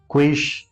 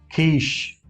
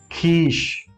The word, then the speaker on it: quiche: Quish, quist, or something like that. Let me just tell you, like the right pronunciation of this word is quiche, quiche. It's a longer E sound.